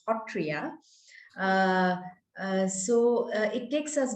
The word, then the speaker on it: Sattriya: my earth lovers that whenever we talk about the satria or as we locally pronounce as hotria so uh it takes